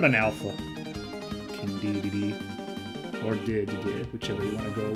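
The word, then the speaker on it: Dedede: Alright, I guess it's English, it's like DDD. Pretty sure in Japanese he's like Dede, but, pardon me.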